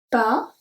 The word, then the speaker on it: pas: Pas de lait. So the S at pas is silent and lait, like I said before, L-A-I-T, we don't pronounce the T.